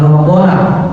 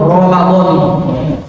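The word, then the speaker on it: رمضانِ: Ada Ramadhani, ada Ramadhana. Yang paling afdal Ramadhani.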